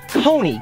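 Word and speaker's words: Koni: Her name's, but she wants to go by Coney, K-O-N-I, Coney?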